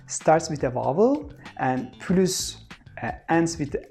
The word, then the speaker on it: plus: If this word has a positive meaning, like more, we need to pronounce S. For example, je veux plus. Je veux plus. Je veux plus de chocolat. So here, plus means more and it has a positive meaning, so we have to say plus.